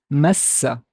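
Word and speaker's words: مسّ: And I would pronounce this as meme fatha, and the s has a shadda fatha, so it's massa, massa, massa, massa, massa.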